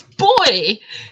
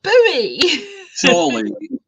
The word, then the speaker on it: buoy: buoy and i'm like it's boy it's not bowie of the requirements of